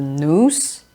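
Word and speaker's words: νοῦς: structure is the reason or the news not Mouse is a mispronunciation of the Greek word news second is the spirited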